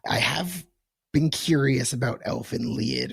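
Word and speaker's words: Elfen Lied: have been curious about Elf and Leid or is that how it's pronounced? Yeah, Elf and Lead. Yeah. Okay. Elf and Lead.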